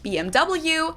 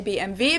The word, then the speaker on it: BMW: In English, people say BMW. In German, we say BMW because W is pronounced W in German, and it stands for Bayerische Motorenwerke, which means Bavarian Engine Works.